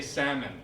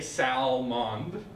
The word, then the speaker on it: salmon: it has taste so in this one you just say salmon you don't say Salman of Salman I mean